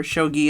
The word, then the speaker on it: Shogi: Shoji is the door. Shogi is the game, right? Yes. Yes. Yeah. Okay. Yeah. Shogi is the um Yeah. Yeah. So, he's like a professional shogi player, like young adult,